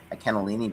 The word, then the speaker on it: cannellini: Because they say they say the n that it's double n and double l and in contrary to how we say double letters, they pronounce each single one.